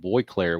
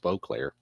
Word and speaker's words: Beauclair: I used to call him Boyclair when I was younger because that I was there, but I've obviously learned later on it's pronounced Beauclair.